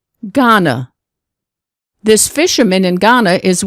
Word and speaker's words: Ghana: G, Ghana.